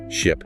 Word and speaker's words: ship: I like for instance, ship. That's a short I sound like in sit versus sheep.